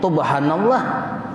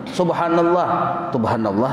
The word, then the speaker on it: subhanallah: Orang subhanallah adanya tubhanallah, subha jangan tubha, bujur dibaca tuh subhanallah aja.